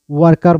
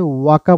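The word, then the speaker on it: worker: যেমন ওয়ার্কার বলছি, ওয়ার্কার, ওয়ার্কার, ওয়ার্কারকে আপনি ওয়াকা বলতে পারেন, ওয়াকা বলতে পারেন। ব্রিটিশরা ওয়াকা বলে আর আমেরিকানরা বলে ওয়ার্কার, আমেরিকানরা আরের উচ্চারণ করে।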